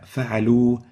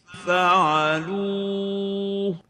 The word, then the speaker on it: فعلوا: فعلوا, فعلوا, without really making a Ha. فعلوا, as if it ends with a waw without a Ha. This is wrong. The right way of pronouncing it is فعلوا. So there is a Ha, but it's a light one.